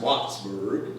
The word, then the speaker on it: Whitesburg: So there was a town over near Wattsburg, Kentucky, pronounced Wattsburg, not Whitesburg, but Wattsburg.